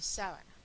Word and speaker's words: sábana: Aquí, sabana y sábana. Sabana es una palabra llana, vean que no tiene tilde, termina en vocal, entonces es llana. Sábana es esdrújula y por eso lleva tilde.